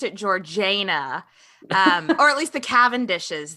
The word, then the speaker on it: Georgiana: Georgina it's spelt like Georgiana but apparently they pronounced it georgana um or the cend dishes did because they